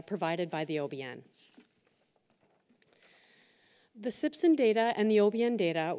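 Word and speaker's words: CPCSSN: The data came from the Canadian Primary Care Sentinel Surveillance Network, pronounced SIPSN, a national organization that extracts clinical care data from electronic medical records.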